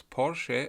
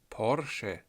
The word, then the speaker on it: Porsche: you how to pronounce Porsche and Taycan correctly, as if you are a German. It's Porsche, Porsche. Never say Porsche or Porsche. That is all wrong, please don't do that.